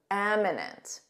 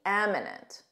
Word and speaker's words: eminent: eminent guest was announced eminent with an E notice that pronunciation M eminent repeat after me eminent good eminent means famous